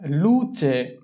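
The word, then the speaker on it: luce: এরপরে হচ্ছে লুচে, লুচে, লুচে, LU লু, CE চে, লুচে।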